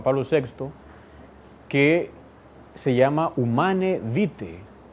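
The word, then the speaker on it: Humanae Vitae: sexto que se llama humana vite se pronuncia así en latín uman evite trata sobre la regulación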